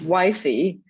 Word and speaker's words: YFI: so not give but uh how do i pronounce it correctly i don't know so it's wifey and we have it on starbucks so it's